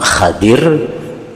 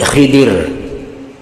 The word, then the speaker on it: Khidir: dengan gelar Khidir jadi membacanya ada dua cara yang pertama Khadir nabi Khadir atau Nabi Khidir KAD nabi Haidir Nah